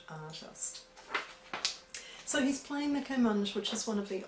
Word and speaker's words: kamancheh: I've heard various pronunciations of this. Anyway, I'll call it one I found, which is Comanche.